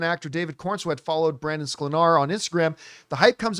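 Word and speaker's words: Sklenar: Brandon Slenar.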